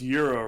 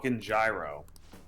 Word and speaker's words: gyro: it's like you it's like you know it's pronounced Euro right it's like yes but I'm American so I'm gonna call it a gyro because also gyro sounds cooler no offense yep